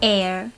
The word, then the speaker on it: heir: In English, for some words, we choose not to pronounce the initial H, like air or honest.